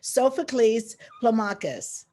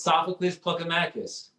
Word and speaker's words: Sophocles Plokamakis: founder and editor-in-chief and i'm here today with sophocles plumakus hi sophie sophocles hi pauline how you doing and i may have butchered your name just a little bit can